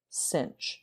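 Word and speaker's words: sinh: cinch of x and this is pronounced cinch if we're trying to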